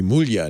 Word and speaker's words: Muglia: and did he pronounce it Muglia or Mulia? Because it would be Mulia in Muglia. Italian.